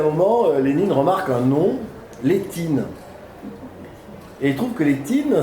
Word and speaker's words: Létine: Et puis à un moment, Lénine remarque un nom, Létine. Et il trouve que Létine, ça sonne un peu russe. Et si on prononce à la russe, ça fait Liétine, et en russe, Liet,